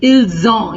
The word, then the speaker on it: ils ont: Remember that you have to give an IZ sound in all these 4 pronunciations because of the single S.